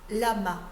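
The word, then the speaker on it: לָמָה: arrêtons-nous maintenant sur le pronom interrogatif pourquoi Lama en hébreu certains commentateurs Juifs notent que l'accentuation du mot est sur la seconde syllabe alors qu'habituellement le pourquoi est accentué sur la première syllabe ce qui permettrait de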